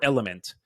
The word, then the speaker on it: LMNT: but no no no it's called lmnt or element it's lima mike November tango and I mean pure